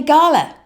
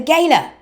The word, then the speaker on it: gala: this would have been a Gala a Gaya I'm bilingual I can pronounce it both ways but this of course